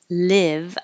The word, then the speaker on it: live: I want to leave the vowel and live is e like hit and the vowel in leave is e so remember live I want to live my life is like it your tongue is more flat a little more flat leave I want to